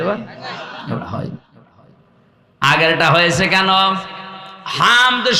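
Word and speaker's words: حمد: হামদ শব্দটা ভেতর থেকে উচ্চারণ করা লাগে, কারণ হামদ আর হামদ ছোট হার বড় হা দিলে আকাশ পাতাল হয়ে যাচ্ছে।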